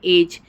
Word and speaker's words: edge: एज, ADGE, लेकिन हम pronounce क्या करते हैं, एज।